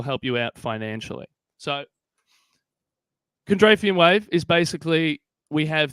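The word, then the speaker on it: Kondratiev: That man's name, I believe, is pronounced Kondrafian.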